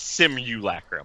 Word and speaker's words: simulacrum: is Sydney lacquered rum how do you guys say it similar simulacrum it's gotta be a real word it is it's simulacrum whoa that's not what